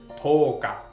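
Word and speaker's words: とおか: And the 10th day is toka. Yo naman, no? Papahabain natin si yo, dadagdagan natin ng o para maging mas mahaba ang pronunciation niya.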